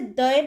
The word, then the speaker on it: the: দয়ের পরে কি লেখা? অক্স। অক্সটা কি দিয়ে শুরু হচ্ছে? ভাওয়েল দিয়ে শুরু হচ্ছে, ওটা একটা ভাওয়েল। তাহলে এই ক্ষেত্রে THEর উচ্চারণ সবসময় দি হবে, দি অক্স, নট দ্য অক্স।